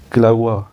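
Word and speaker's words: Kilauea: इसकी प्रोनाउंसिएशन किलाउआ इसकी प्रोनाउंसिएशन है।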